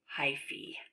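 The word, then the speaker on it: hyphae: out in every direction actually I think this is pronounced hyphy look at that silly word that you would think that is an a let's see if we click on it oh look at that pronounced hi fee when hi see bump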